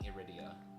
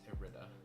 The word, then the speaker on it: Irida: I keep putting I'm putting extra syllables. It's just I keep doing Idia. It's Irida.